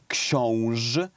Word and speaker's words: Książ: Książ is exactly how we pronounce it. So yes, you pronounced it correctly. Okay? Książ.